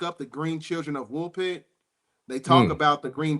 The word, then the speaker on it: Woolpit: And that's and how do you spell that? You said the Green Children of, how do you spell Wilburn? Woolpit.